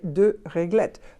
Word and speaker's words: réglettes: together and you say do let but you have to add an S in the spelling which is not going to be pronounced my goodness why isn't